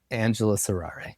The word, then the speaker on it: Angelus Errare: I play in a band called Angelus Errare, and the spelling of that is atrocious, but I'll spell it real quick. ANGELUSERRARE.